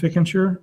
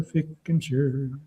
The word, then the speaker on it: Fickentscher: My name is Fickentscher, and and I'll tell you how to spell it. It's f i c k e n s c h e r, Fickentscher.